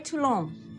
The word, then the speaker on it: Toulon: I don't Andre Toulon. Note the pronunciation.